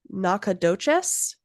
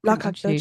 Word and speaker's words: Nacogdoches: my gosh, I'm so sorry about this one, Nacogdoches. Let me see. Town. Hopefully I've said that correctly. Yeah, that's reasonable Nacogdoches, pronunciation.